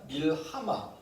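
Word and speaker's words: מלחמה: 수가 있다는 겁니다 자 히브리어의 전쟁은 이렇게 읽습니다 밀 하마 밀 하라고 읽는데 라메드 해이 다섯 단어로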